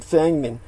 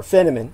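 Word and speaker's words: Feynman: world-renowned physicists including richard fengman or feniman uh depending on which dialect you pronounce it with but uh he definitely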